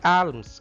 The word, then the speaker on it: alms: It is not alms, arms. L is silent here.